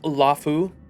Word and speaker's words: Luofu: this opportunity on the luu to dig into it luu March it's pronounced lafu darn straight give the